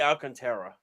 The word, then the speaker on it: Alcantara: And I finally we got his name pronunciation correct. Sandy Alcantara.